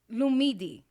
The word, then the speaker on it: Lumidee: No, it's the right way is Lumidee.